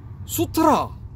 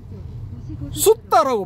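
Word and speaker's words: sutta: 예를 들어 슈트라 혹은 슈트라 뭐 이렇게 발음해서 안 되고 숫다라고 발음해야 된대 그죠?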